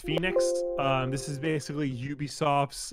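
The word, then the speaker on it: Fenyx: next week dumb boys immortals fenix rising it's pronounced phoenix um this is basically ubisoft's uh breath of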